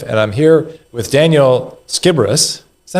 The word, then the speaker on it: Sciberras: the chairman of the IFBF, and I'm here with Daniel Skiibbrus.